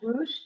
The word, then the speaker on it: Rust: Um it was built in 17 and Henry Louise Rust, probably pronounced Roosh, is that correct?